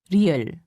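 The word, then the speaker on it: 리을: to make the character real real is a sound made by softly rolling your tongue listen carefully la dia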